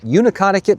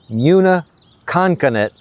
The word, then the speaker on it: Neutaconkanut: And I know some of you might be saying, Neutaconkanut, that's not how you pronounce it. And you're probably right, but that's the way I've pronounced it since childhood.